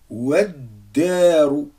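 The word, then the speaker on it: والدار: Ici, j'ai Waddaru. Donc, c'est la même chose. De Wa, je passe directement à la lettre Del avec la shadda. Ça fait Waddaru.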